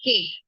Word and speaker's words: cake: I have given cake We call we read it as cake we W read cakey isn't it the E is in silent so it is cake just not KY read the next letter